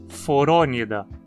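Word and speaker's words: Phoronida: Da mesma forma, então, dizemos priapúlida, gnatostomúlida, forônida. Nos artrópodes, a penúltima sílaba, po, tem vogal curta também.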